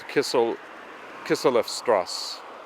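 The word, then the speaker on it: Kisseleffstraße: That thing that I was pronouncing like a B is actually an S. So it's Kislev Strasse.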